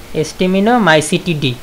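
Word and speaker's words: Stemonitomycetidae: এ ধরনের প্লাজমোডিয়াম স্টেমাইনোমাইসেটেরাডাই, এর উচ্চারণগুলো খুব কঠিন, এর উচ্চারণটা মূলত হবে এস্টিমিনোমাইসিটিডি, এইরকম এস্টিমিনোমাইসিটিডি এই উপশ্রেণীতে দেখা যায়।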